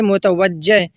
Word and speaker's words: متوجہ: اور اسی طرح متوجہ، اس کو لوگ متوجہ بولتے ہیں، جیم پر زبر بولتے ہیں، یہ غلط ہے، بلکہ اس کا صحیح تلفظ ہے متوجہ، یعنی توجہ دینے والا۔